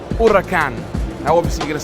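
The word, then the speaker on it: Huracán: about this number one it's not pronounced hurricane it's pronounced urakan now obviously you're going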